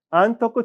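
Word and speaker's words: 安徳: 왕자를 낳고 쇼라이 안토쿠 텐노니다 장래에 안덕 천황 안토쿠라고 읽는 우리는 안덕이지만 일본 발음은 안토쿠라 들린 겁니다.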